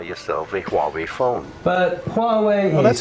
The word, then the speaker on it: Huawei: But Huawei Well, that's how you pronounce it.